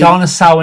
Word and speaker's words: Darnassus: I Darnasau and Gilney.